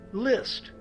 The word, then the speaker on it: Liszt: Franz Liszt's name is, in German, pronounced the same as a word, List, meaning trickery or deception.